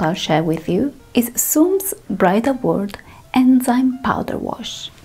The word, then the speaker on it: su:m: it's simply known as Serum. They don't pronounce the 37.